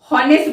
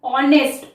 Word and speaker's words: honest: हॉनेस्ट बोलते हैं, ह से बोलेंगे नहीं फ्रेंड्स, हॉनेस्ट नहीं बोलते हम, ऑनेस्ट, ऑनेस्ट। ऑ से शुरू होता है हमारा वर्ड, ऑनेस्ट।